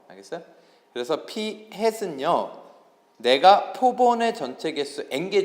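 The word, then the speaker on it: p-hat: 그래서 모자가 햇이어서 이거를 피햇이라고 읽고요. 알겠어요? 그래서 피햇은요, 내가 표본의 전체 개수 n개 중에서 안경을 낀 학생의 수 이렇게 구한다고.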